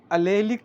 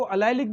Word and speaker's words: allylic: Okay, तो sp2 का next जो sp3 हाइब्रिडाइज कार्बन एटम रहेगा बच्चों, उसको प्रोनाउंस किया जाएगा अलेलिक कार्बन। ओके, अलेलिक भी प्रोनाउंस किया जाता है, इसको अलाइलिक भी किया जाता है।